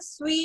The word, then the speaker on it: suis: जो first word लिखा हुआ है ना, ज, च्यू, इल, एल, नू, वू, इल, एल, तो ये सारे तो प्रोनाउंस थे. ठीक है. इसके आगे जो स्वी लिखा हुआ है, SUIS, या इसकी जो सेकंड वर्ड है SUI, या एक सेकंड पहले बात सुन लो आंटी.